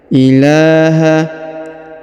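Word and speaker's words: إله: ya Allahu La ilaha huruf la yang ini dibaca Dua harakat karena di atasnya terdapat tanda Alif kecil ya ilaha illa huruf la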